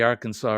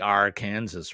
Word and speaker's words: Arkansas: it Buna and also there's a river there called the Arkansas River spelled just like the state Arkansas but don't call it the Arkansas River they call it the r Kansas River oh okay I never